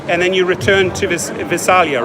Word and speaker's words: Visalia: So you drives all the way up to the Bay Area, Yes, and then you return to Visalia, right? right. Am I saying it correctly? Visalia.